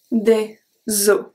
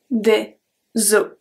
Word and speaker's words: des os: Numéro 8, un os, des os. We don't pronounce the S when it's plural. Un os, des os.